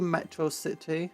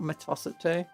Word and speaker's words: Metro City: It's meant to be Metro City, not Metosity.